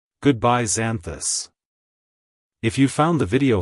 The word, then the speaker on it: Xanthus: mythology it's pronounced as zanthus zanthus zanthus to pronounce it correctly EMP emphasize the Zen and pronounce the th as in this the buz should be